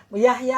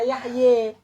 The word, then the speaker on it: Yahya: Yahya nggak boleh dibaca Yahye.